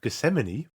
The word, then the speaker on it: Gethsemane: and do this because I'm really bad at pronouncing this one gamine uh Gethsemane Gethsemane okay so I was right of Gethsemane Gethsemane yep directed by RW Goodwin written by